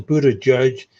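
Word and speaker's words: Buttigieg: history well speaking of Buda okay the official pronouncation is Buda judge but okay and I'm not trying to be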